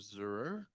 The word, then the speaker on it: Zur: Zur, if I'm I hope I'm pronouncing it closely. You have perfect. Thank you. Uh, good morning. Thank you for this opportunity to testify. My name is Zur.